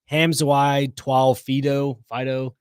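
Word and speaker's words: Hamiso Tabuai-Fidow: His name is pronounced like Hamzawai Twal Fido.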